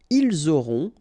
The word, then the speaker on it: ils auront: liaison here, vous aurez, ils auront, final T not pronounced, elles auront.